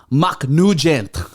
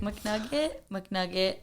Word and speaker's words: McNugget: It's a McNugget. McNugget. It went from McNugget to McNugent.